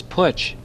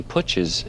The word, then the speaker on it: Putch: Somehow or other, that was easier to say because it rhymes with Dutch and Putch, Dutch.